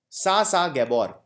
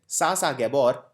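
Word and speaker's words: Zsa Zsa Gabor: Sasa Gabor, Z is silent. Sasa Gabor, she died recently.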